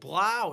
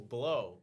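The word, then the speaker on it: Blough: his name is so- Blow. Like that's how it looks, but it's pronounced Blau.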